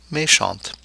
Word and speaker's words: méchant: mei xiao mei xiang the de at the end of may shun the feminine form forces the pronunciation of that tea whereas its silent in the masculine form may shaw méchant then we have a